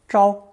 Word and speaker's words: 招: By adding the hand radical, another character was spun off from 照 and pronounced first tone 招 to make the distinction.